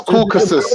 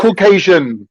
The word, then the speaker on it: Caucasus: Asian is in Caucasian no it's not that's C that's Caucasus it doesn't contain Asian it doesn't contain asianasian one second one second that's their classification bro do you got no that's your pronunciation that's your mispronunciation of Caucasus it's not Caucasian listen listen we have